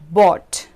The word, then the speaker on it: bought: So the first pronunciation of this combination is aw, and for this pronunciation we have words like thought, bought, right? So here you can hear the pronunciation in these words of the OUGH combination, which sounds like aw.